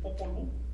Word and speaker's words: Popol Vuh: En quiché, el Popol Vuh, cuya pronunciación correcta es Popol Vuh. Así es como se pronuncia de verdad.